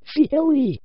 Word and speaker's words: Fieri: I know it's supposed to be pronounced Fieri, but I have a bit of trouble with it sometimes.